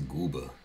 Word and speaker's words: Gooba: It's GOOBA.